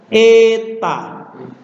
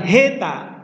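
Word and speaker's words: ἦτα: Beda dengan ini juga tapi dibaca eta. Bukan heta, tapi Contoh merah, bukan merah, tapi merah.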